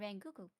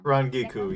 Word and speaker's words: Rangiku: And then I will be playing Ranguku. Rangiku? I don't know. Rangiku, yes.